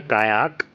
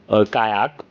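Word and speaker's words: qajaq: And the word kayak originates from the Greenlandic word kayak which is spelled as q a j aq where the j is silent.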